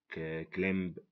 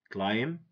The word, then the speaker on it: climb: If we read these words, someone who doesn't know the silent letters is gonna say, or she's gonna say, hour, dipped, but get, sin, sign, recept, fasten, somi, folk, isel, klemb, hymn, handkerchief. This is wrong, okay? This is wrong. If we know the silent letters, we're gonna say our, debt, budget, sign, receipt, fasten, sum, folk, aisle, climb, him, handkerchief.